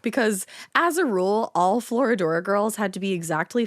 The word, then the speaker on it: Florodora: 19th century stage play Florodora. I always feel like I'm saying it wrong, but I did Google it and it's Florodora. Oh, look at that.